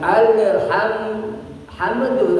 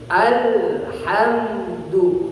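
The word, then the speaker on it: الحمد: ya tidak boleh mantul jangan alham hamdu apalagi enggak boleh ya alhamdu ya itu yang disebut bainiat begitu pelafalannya ya alhamdu mengalir juga tidak terputus juga tidak kalau terputus Al hamdu namanya terputus-putus ya jangan diputus-putus ya dan juga tidak boleh mengalir alhamu enggak boleh juga maka disebut hukumnya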